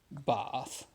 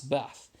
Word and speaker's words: Bath: Now, where I'm from, in Yorkshire, the north of England, we tend to pronounce Bath as Bath. We tend to pronounce it as Bath. We have the short A's.